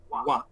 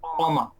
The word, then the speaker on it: و: পাচ্ছেন, হয়তো আমি লিখতেছি, এটার উচ্চারণ হচ্ছে ওয়া, নট বাংলায় যে বলে না অ, এটা না, এটা হলো ওয়া। একসাথে খুব কুইক, ওয়া মাহফিল আরদি, নট অমা। মানে বুঝাতে পারতেছে কিনা, নট অমা ফিল আরদি, বা অথবা ওমাও